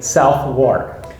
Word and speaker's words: Southwark: So that how would again you say is, this? oh, we kind of squash it all together. Southwark. Southwark. Southwark. Southwark. Yeah. So you just totally disregard any W. No, we just squash everything together.